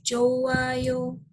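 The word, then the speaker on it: 좋아요: vokal contoh di sini ada kata Joko ayo dibacanya menjadi joayo jangan diubah tulisannya Tulisannya tetep ini hanya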